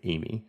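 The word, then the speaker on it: Eighmy: The normal girl's name, my wife's name, Amy, but I think it is pronounced Amy. Yeah, it's spelled E-I-G-H-M-Y, which, you know, I think if I recall correctly at argument, everyone was saying Amy.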